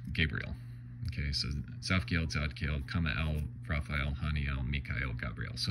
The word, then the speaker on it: Cumael: Kamael, K, I think in Hebrew it's usually transliterated from the Hebrew as K-H-A-M-A-E-L, but instead here it's spelled in the Enochian, so go ahead and make your jokes, but it's C-U-M-A-E-L, you know, Kamael, basically.